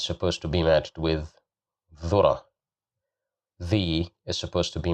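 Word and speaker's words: ذرة: Again, here we have the letter dhal, and we have dhamma, so we will pronounce it as dhu, dhura, dhura, dhura, which means corn, dhura.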